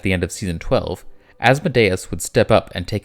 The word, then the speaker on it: Asmodeus: Now it's time for our very first demon, Asmodeus, or Asmodeus. It's pronounced both ways, which bugs me. How does he say it? I am Asmodeus.